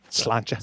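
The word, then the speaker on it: sláinte: Well, Slanta. It sounds wrong, right? Slanta to you too. Slancha. Skull. Yeah. She had to teach me how to say it properly.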